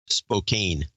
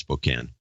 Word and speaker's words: Spokane: Valley Spokane he was Spokane yeah this is pronounced spoken one two three four